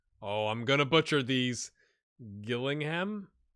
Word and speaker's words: Gillingham: I'm gonna butcher these Gillingham not chilling him maybe let's look at